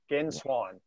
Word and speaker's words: Genswein: Yeah, Manuel, and it's Gen. Gen. Swei. Swin. Genswein. Again, Swine, yeah.